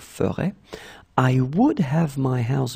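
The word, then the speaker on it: ferais: I mean, phonetically, it's the same, but then remember, you need to put this S at the end of ferait.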